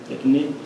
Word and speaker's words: tecnê: Eh, tem um poema chamado tecnê, essa é a pronúncia tecnê.